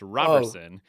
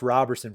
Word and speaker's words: Roberson: does that happen I I want to put a t in my name because people look at it the way it looks like Roberson but it's pronounced Roberson for whatever reason and